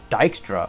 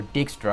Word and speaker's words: Dijkstra: which is a suggestment dijkstra or dickster however you want to pronounce it but i pronounce it as dijkstra from the books but um he is